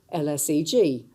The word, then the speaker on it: LSEG: pronunciation, as people didn't even know how to pronounce our name. It was LSE Group, LSEG.